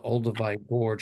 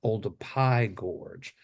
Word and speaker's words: Olduvai Gorge: was going to the Olduvai Gorge. It actually is pronounced Oldupai Gorge, because in the Masai Mara language uh they don't have a P sound, so they make it a V.